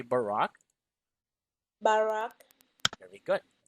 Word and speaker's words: Barack: Barack, Okay, this is actually pronounced as Barack. Say Barack.